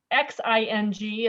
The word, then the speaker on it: Xing: Well, this is the Jing Quilt that's behind me, which Xing is how you spell it. It's not Xing or crossing, but I sewed this quilt just before I took a group to China on tour.